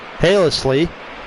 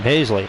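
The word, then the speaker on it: Hasely: in the fifth so here is haylessly hey hazely that's how you say his name hazely adam hazley adam hazley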